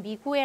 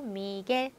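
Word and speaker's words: Miguel: 그래서 얘는 미구엘 아니고 미겔, 미겔. 그래서 깨기가 된다는 거.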